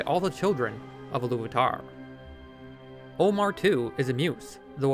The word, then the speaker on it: Ómar: I don't believe it's an accident that this Maya is called Ómar, as it phonetically matches to Homer, the famous Greek poet who wrote the Iliad and Odyssey back in the 8th century BC.